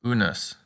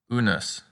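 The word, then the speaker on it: unus: rude and put a good practice word is unes which means one unes a lot of words end in us and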